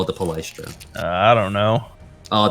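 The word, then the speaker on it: Palaistra: Palestra.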